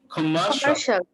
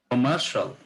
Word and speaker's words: commercial: এটা commercial শিয়াল উচ্চারণ করাই আনা যাবে না, তাহলে হচ্ছে কমার্শিয়াল। হ্যাঁ, মারের উপর স্ট্রেস আনতে হবে, মারের উপর একটা স্ট্রেস দিতে হবে, কমার্শিয়াল।